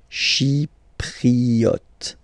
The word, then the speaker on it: Chypriote: She, remember this Y is pronounced like E. Okay. Chypriote.